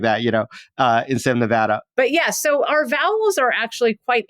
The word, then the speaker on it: Nevada: me then as settled as we are on Nevada being the one true way to pronounce our own State could this pronunciation of